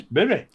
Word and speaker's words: Bury: You say it properly. The wonderful Salford Vapor would love you for that. It is Bury. Well, a lot of people call it Berry, don't they?